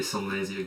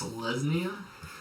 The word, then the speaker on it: Selesnya: And I'm going to lay a Selnasia Guildgate, and I'm going to pass the turn. It's pronounced Selesnya. I am so sorry. In this neck of the woods, it's called Selesnya.